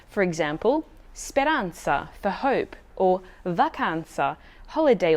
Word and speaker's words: speranza: beginning as in zero a single z or zed can also be pronounced as a combination of t plus s for example speranza for hope or vacanza